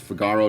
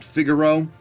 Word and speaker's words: Figaro: to the kingdom of Figaro yes we we pronounce it Figaro not figuro I've heard it pronounced that way we're not